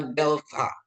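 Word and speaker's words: δέλτα: Terus ada delta. Delta itu dia lebih ke DH, bukan D, tapi dia DH ya Bapak Ibu ya.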